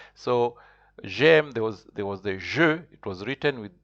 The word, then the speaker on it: je: You will see the I in French is pronounced je, but you'll see that je, you can also see it with you'll see the j with apostrophe.